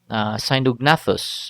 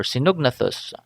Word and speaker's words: Sinognathus: Then you can also find Sinognathus or Sinognathus. Um, I think both pronunciations are accepted, and this is another reptile-like um, fossil that you can see connects Africa and South America.